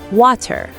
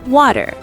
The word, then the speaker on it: water: Now, in British English, they might say water with a clear t sound, but in American English, we say water. The t sounds like a d.